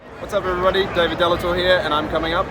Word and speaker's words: David de Lautour: here at Power morphon 2024 with David delator David delator am I saying it correctly that's it I